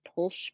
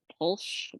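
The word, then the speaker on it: Pwyll: Prince uh I think his name is polsh p-w-y-l-l I think you pronounce that polsh but I don't seem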